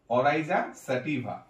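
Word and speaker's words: Oryza sativa: এরপরে স্যাটিভা, স্যাটিভা, স্যাটিভা, যেহেতু ভিএ, অরাইজা স্যাটিভা কি হবে?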